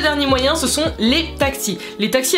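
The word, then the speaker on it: taksi: Donc c'est très simple, tu lèves la main, tu cries taxi, ça s'écrit T-A-K-S-I, donc tu dis taxi, il n'y a aucun problème, ils comprendront.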